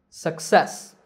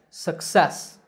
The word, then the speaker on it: success: on the first syllable in the next two words the stress is on the second syllable success once again success similarly succinct notice in